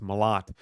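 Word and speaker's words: Malott: mot Mallet I said I like to say Mallet but people call him or his name is pronounced mot but when he fought Mike mot he gave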